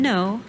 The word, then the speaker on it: Noe: name as she said is pronounced no opposite of yes and if you ask